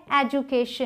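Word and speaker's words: education: अगला है एजुकेशन। इसे जू, इस DU को जू प्रोनाउंस करेंगे, ज।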